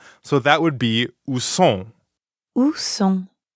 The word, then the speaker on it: sont: So that would be où sont. Où sont? Right, où sont. Sont. Sont. Sont is nasal, so it rhymes with bon, like at the beginning of bonjour.